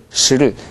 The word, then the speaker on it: 十: 네, 十를 그냥 쭉 올라가세요. 十. 十. 네, 十 하지 말고 十.